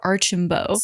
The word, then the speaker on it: Archambault: Danielle's mother, Jennifer Archambault, correction, I saw someone else in a video who knew Jennifer pronounce her last name Jennifer Archambault, so I want to make sure I pronounce her last name correctly.